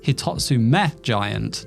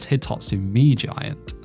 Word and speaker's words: Hitotsu-Me Giant: See, the name should be pronounced Hitotsu-Me Giant, not Hitotsu-Me Giant. Hitotsu is a Japanese counter, meaning one or a thing, and Me is the Japanese word for eye.